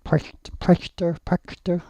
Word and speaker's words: Prechter: I think his name is correctly pronounced as Prechter.